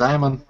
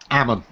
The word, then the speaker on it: Ammon: Is it Ammon or Ammon? It's Ammon. What was it? Ammon. Okay, I thought that sounded like a combination of the two.